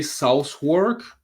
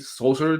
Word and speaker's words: Southwark: I think it's called, I would say Southwark, but that's not how they say it, Southard or something.